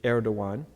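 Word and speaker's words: Erdoğan: that I know but all the letters are very different from our letters so that Gan is actually air dawuan he's the 12th president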